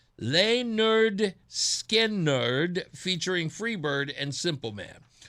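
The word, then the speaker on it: Lynyrd Skynyrd: In 1973, Leonard Skinnard released their debut album pronounced Leonard Skard featuring Freeird and Simple Man.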